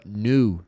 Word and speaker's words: new: Então, aqui, ó, new, new, como se fosse nu mesmo, tá?